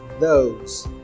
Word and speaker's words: those: Presta atenção na pronúncia do those também, tá? a ponta da língua entre os dentes. Those, those.